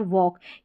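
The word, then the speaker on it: walk: Salt, stock, टॉक और वॉक, यहाँ पर इन सारे स्पेलिंग्स में ए के बाद में जो एल आ रहा है वो साइलेंट है और ए का उच्चारण ऑ है।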